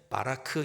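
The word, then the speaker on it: ברך: 복을 받는다라고 하는 히브리어 원어의 단어는 바라크, 이렇게 발음을 합니다.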